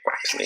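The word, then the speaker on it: Quaxly: Quaxley, so they don't say Quale, they say Quaxley.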